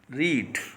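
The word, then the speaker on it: read: इसको देखिए, हेड के साथ वर्ब की थर्ड फॉर्म यूज हुई है, जिसका उच्चारण मैंने अभी रीड बोला था। एक्चुअली इसका उच्चारण रीड नहीं होता, इसको रेड बोला जाता है।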